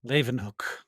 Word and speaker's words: Leeuwenhoek: So when we first started seeing microorganisms, so scientists like Hook or Leeuwenhoek, I don't know how to say his name. Leeuwenhoek.